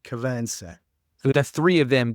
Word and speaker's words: Cabansag: Cabin sag, yeah. Yeah, that's how you pronounce it. It looks Cabansag. Cabin sag, yeah. Pronounce it Cavansack.